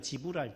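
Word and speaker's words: Gevral: 거기서 형용사로 바꿔서 미국에서는 지브랄이에요. 지브랄. G-E-V-R-A-L인데 우리는 독일어 발음식으로 G-E를 그냥 개로 해가지고 게브랄티로 선전을 했어요.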